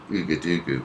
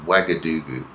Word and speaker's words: Ouagadougou: I kept saying Ouagadougou, but it's pronounced Ouagadougou.